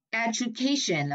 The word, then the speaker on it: education: Education là âm ba.